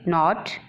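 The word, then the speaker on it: knot: जैसे नॉट, नॉट में के जो है वो साइलेंट है।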